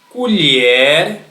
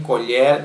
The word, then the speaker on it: colher: Aqui as palavras são escritas da mesma maneira, C-O-L-H-E-R, e aqui também colher temos a mesma sequência. Mas quando é para se referir ao utensílio de cozinha, nós pronunciamos colher.